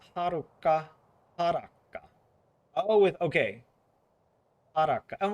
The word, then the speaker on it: Haruka: Oh, it's spelled Haruka with two K's. I was close actually. Oh wait. Like this. So it does have a long A.